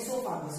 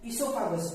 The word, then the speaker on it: oesophagus: इसोफागस, OESOPHAGUS, this is the spelling of इसोफागस। बस इसका pronunciation ई से स्टार्ट होता है, ठीक है, बट स्टार्ट्स फ्रॉम ओ।